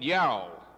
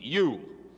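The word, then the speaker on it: ewe: I want someone to explain to me how you pronounce the word E-W-E. As I traveled around the country, I heard people calling it yow.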